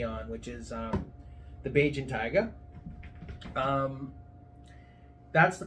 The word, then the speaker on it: Bajan Tyga: founded my company on which is um the Beijing tiger um that's the correct pronunciation Beijing tiger uh it's it's interesting because I didn't realize